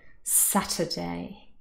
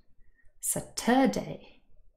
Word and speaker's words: Saturday: right at the start sat has the main stress and you can see this the stress bubbles above the word as well saturday if i just moved the stress to the second syllable the word would sound very different saturday that uh the schwa would change into an earth sound i would have to stress it a schwa is never stressed so it would